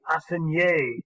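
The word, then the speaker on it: assignat: The assignée is how it's pronounced.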